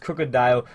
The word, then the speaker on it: Krookodile: comments about it yes I do know it's pronounced krookodile odelay just sounds so